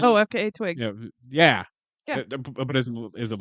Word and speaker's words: FKA twigs: nudity of, I have no idea how to pronounce her name because it's letters and then Twigga, FKA Twigga, I think her name Oh, is. FKA Twigs.